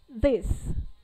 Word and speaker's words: this: توی کلمه حالا ببینید من براتون تلفظ میکنم this. یه صدای بین س و ز نوک زبونی همچین.